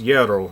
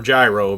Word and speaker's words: gyro: the greek yellow and then we know it's pronounced yarrow not hero or gyro because we went to greece and they told